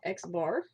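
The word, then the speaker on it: x̄: We do call this, or it is pronounced x bar.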